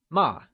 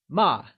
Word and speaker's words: mà: So remember, ma, meaning scold, carries the falling tone, also known as the fourth tone.